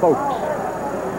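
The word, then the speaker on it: Fowlkes: Lassoed there by Dennis Folks, number 50, F-O-W-L-K-E-S, pronounced Folks.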